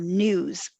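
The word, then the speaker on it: NWSS: establishment of something called the national Wastewater surveillance system which we pronounce as news so news was established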